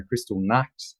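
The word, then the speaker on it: Kristallnacht: was the Jewish situation in Europe okay there's Crystal Knight a Crystal Knight as the Germans pronounce it there's the uh sa okay and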